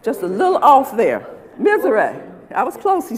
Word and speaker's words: Mizerak: want to make sure I'm getting his name pronounced correctly. Antone Mizerak. Mizerak. How about that? Just a little off there. Mizerak.